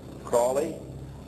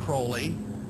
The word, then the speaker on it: Crowley: Aleister Crowley, he likes to have his name pronounced Crowley to rhyme with holy.